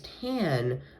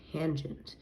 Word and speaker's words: tangent: and then tangent you would read it as tan um if you would not know what tangent is but it is actually pronounced as actually pronounced as tangent and now that we do know that uh